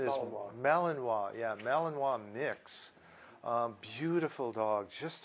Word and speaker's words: Malinois: here a year old neutered male Belgian as pronunciation is Malinois yeah NIC's beautiful dog just a gorgeous dog